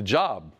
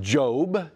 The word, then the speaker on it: Job: or some people see JLB that's how you spell it it's look like the job you know the employment book the book of Job no it's pronounced by most people is job job and job is the dude man job